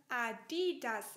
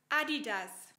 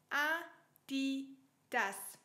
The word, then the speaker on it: Adidas: Aber oft wird sie fälschlicherweise Adidas ausgesprochen. Aber die Betonung liegt woanders. Und zwar auf Deutsch Adidas. Adidas.